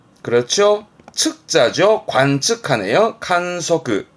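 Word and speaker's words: 観測: 발음은 칸사즈, 칸사즈. 그렇죠. 측자죠. 관측하네요. 칸소크, 칸소크.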